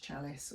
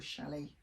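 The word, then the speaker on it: challis: This one is the viscose chalice, or chalet, people use different pronunciation, but I quite like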